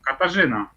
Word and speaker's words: Katarzyna: Katarzyna, I need help pronouncing this name. I told you, Katarzyna.